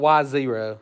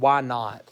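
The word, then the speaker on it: y naught: Y 2 minus y1 we don't call it y zero okay it's called y not yeah yeah not that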